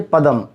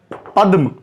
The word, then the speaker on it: पद्म: कमल में जोड़ेंगे, एक और देख लीजिए, पदम, यानी कि पद्म। पदम नहीं बोलेंगे चूंकि द आधा है, तो पद्म बोलना श्रेष्ठकर है।